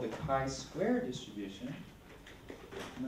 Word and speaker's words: chi-square: to, it's called the chi-square distribution. And this is how we spell it, C-H-I, but it's pronounced chi-square. And the symbol for it looks like this, chi-square.